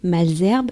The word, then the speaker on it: Malesherbes: à la station malesherbes celle que leezam prononcé malès herbe ou que d'autres personnes prononce malherbe bon j'ai toujours entendu malesherbes dans la bouche de ma mère qui a vécu toute son enfance dans le xviie c'est le nom d'une